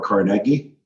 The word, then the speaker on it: Carnegie: Louis, Calgary, and now Pittsburgh, or Carnegie, as I learned how to pronounce it.